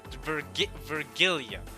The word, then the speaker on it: Virgilia: It's not like virgin, like the gene virgin. It's Virgilia. So it's like Virgil from Devil May Cry.